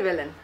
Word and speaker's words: Velan: Normalement, c'est Vélène. Mais beaucoup de gens ne prononcent pas le. Enfin, ils disent Vélène. C'est Vélène, c'est le nom de fils de Shiva.